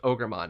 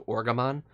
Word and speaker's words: Ogremon: The one that it doesn't is Ogremon, because on Wikimon it's spelled as O-R-G-E, so Orgamon, and that's clearly not the intention.